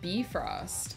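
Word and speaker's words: Bifröst: um dang I wish we could travel via bifrost because it seems like that's pretty instantaneous and I would be I would be really happy um it's pronounced B Frost is it now that would make sense that's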